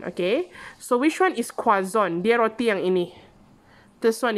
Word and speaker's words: croissant: book and croissant typical demolition croissant the correct pronunciation is quasan quason okay so which one is kwazon they are ini this one is quason okay